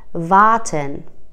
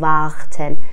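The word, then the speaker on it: warten: مثلا توی وارتن، وارتن نمیگیم وقتن.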